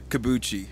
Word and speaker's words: Cobucci: Kabuchi.